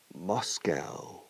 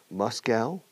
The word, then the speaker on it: Moscow: Moscow is. Dos pronunciaciones. Moscow or Moscow. Los dos nos valen.